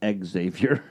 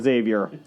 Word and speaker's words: Xavier: His name's pronounced Xavier. You know what? In America, we're calling him Xavier.